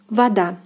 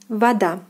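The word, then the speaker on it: вода: Here we have stress on the second syllable as well, and the word is pronounced as voda, voda, voda, voda. So O is pronounced as A, voda, voda, voda.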